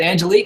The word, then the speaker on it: Angelique: Is it Angelique? Is that how I pronounce it right?